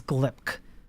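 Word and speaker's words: glibc: that's not the the correct way okay it's glip yes Arvis glip pretty glip name to be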